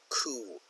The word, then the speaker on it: coup: deposed in a military coup this is pronounced qu not coop ok the P